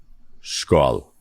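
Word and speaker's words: skál: how do you say cheers in FOH e skull skull skull thank you after a chat and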